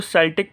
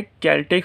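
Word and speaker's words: Celtic: अच्छा, कुछ लोग उसको सेल्टिक पढ़ते हैं लेकिन असल जो प्रोनाउंसिएशन होती है वो सेल्टिक नहीं बल्कि केल्टिक होती है।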